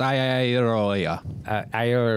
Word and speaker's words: Iadarola: Yeah, it's pronounced Iadarola.